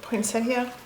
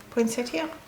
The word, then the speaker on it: poinsettia: Poinsettia. I think different people pronounce them very, very different, but poinsettia. Here, that's what I pronounce it.